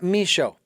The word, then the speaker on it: Michaud: h a u d the d is silent folks and misho and uh